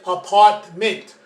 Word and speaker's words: apartment: that's wrong as well the correct pronunciation is apartment why because the t apart mint the t is the middle this is not the middle now we never pronounce